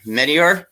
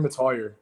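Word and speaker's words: Mettauer: Okay, Medior. Is that how he pronounced it there? It's Mabry Matoyer.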